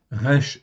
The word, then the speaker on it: רע: Donc le mot raci aï en fait ici ça se prononce ra en fait ici c'est un mot très important dans la Bible.